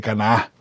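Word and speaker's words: Caná: parte de el domingo la boda de can de Cana tiene acento en la a verdad Lee Juan 2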